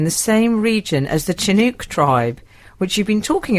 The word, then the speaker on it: Chinook: I hear the word Chinook pronounced with a hard ch sound. I've only ever heard it pronounced sounding more like Chinook. Second syllable rhymes with book. Oh, so Chinook.